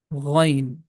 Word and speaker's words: ghain: The name of this letter is Ghain. Letter Ghain comes from the beginning of the throat. It has GH sound, Ra sound it has, Ghain.